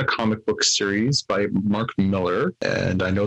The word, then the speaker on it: Millar: And I know there's people out there who are going, no, it's Mark Millar. No, it's not. It's Mark Miller. He said his name is Mark Miller. It's Mark Miller. It's spelled M-I-L-L-A-R, but it's Miller.